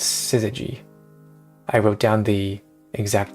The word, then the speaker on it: Syzygy: It's Syzygy. I wrote down the exact pronunciation.